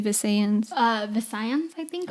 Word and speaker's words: Visayans: Visayans, I think. Or the closest one that I know is Visaya, so I'm basing it off that. So I'm going to say Visayans. Yeah, it's so a region